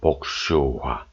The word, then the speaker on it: 복슈화: 복숭아의 옛 발음은 복슈화입니다. 복슈화.